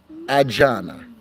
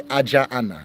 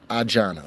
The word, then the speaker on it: Ajana: In Igbo, like if two words are following each other, like Ajana, you wouldn't say Ajaana. It becomes one word, like they one of the vowels will drop. And so it just becomes Ajana.